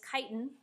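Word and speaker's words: chitin: that we have is kiten not spelled the way it's pronounced so kiten is also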